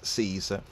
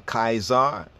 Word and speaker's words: Caesar: the C sound right the C Sound would actually be pronounced as a k sound so the C Sound